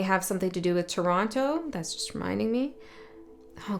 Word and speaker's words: Toronto: There's this thing, like people who aren't really from Toronto always pronounce the last T.